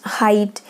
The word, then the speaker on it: height: like the ah 8 height here when the gh is silent here and only the sound of i is manifested here like ah h e